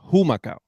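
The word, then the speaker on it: Humacao: I was born in umakau right yeah um is a Taino name it's actually pronounced humakau but okay all right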